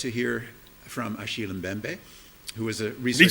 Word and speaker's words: Mbembe: side note for the name uh the mem is silent oh bembe so a shield bembe God I've been calling him mbembe forever so that's embarrassing um uh bmbe is